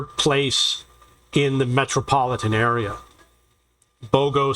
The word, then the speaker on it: Bogo: Bogo City, or as they pronounce it, Bago, is a real town.